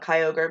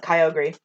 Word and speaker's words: Kyogre: it i don't anymore i call it kyogre because i know that's how you're supposed to say it um but i used to call it kyogri kyogri yeah yeah i mean that is literally phonetically how that's pronounced that makes sense or how that's spelled yep so that makes perfect sense yeah yeah it's just like yeah it's like ogre like the creature yeah well also i've